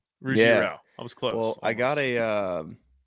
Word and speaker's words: Ruggiero: Tony Ruggiero? Yeah, Ruggiero. Ruggiero.